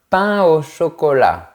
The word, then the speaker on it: pain au chocolat: On ne fait pas la liaison entre les mots pain et eau. Un pain au chocolat.